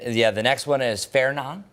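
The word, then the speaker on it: Fernand: And yeah, the next one is Fairon. By the way, you do not pronounce the D.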